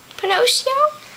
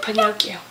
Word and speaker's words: Pinocchio: is the my character pinocchio how do you pronounce it pinocchio pinocchio say pinocchio pinocchio okay hey thanks thanks for watching this